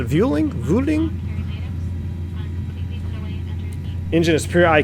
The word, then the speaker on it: Vueling: the house it was the pronunciation is a Vueling routing engine is pure